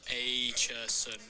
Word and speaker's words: Acheson: Oh, yeah, he told me how to pronounce his name. Acheson. Thanks, man. You tell me how Will Acheson hits a 360 dive roll and ends up between these dumpsters.